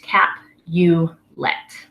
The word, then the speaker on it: Capulet: the next one is Capulet that is Juliet's last name that's the Capulet family Lord Capulet Lady Capulet the Capulets are the the noble family that Juliet is a part of so that's just a cap you let alright the other family